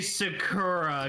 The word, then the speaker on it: Sakura: say Sakura come on that's how they pronounced it Sakura you know it's Sakura I know it's Sakura I know Sakura in the in the original that's how you pronounced it that's how the name is pronounced but the dub chose to pronounce it Sakura CU one cultured swine